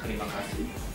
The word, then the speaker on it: Terima kasih: Terima kasih.